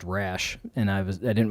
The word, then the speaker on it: Rasche: so we talked about my last name being phonetically pronounced rash and i was i